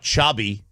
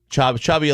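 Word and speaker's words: Xabi: Also just sounds Chabi. I think it's Chabi Alonso. Oh. I think you pronounce the V as a B, right? Yeah.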